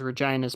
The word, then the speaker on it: Regina: uh yeah it's it's Regina that's how the city is pronounced yeah but the Latin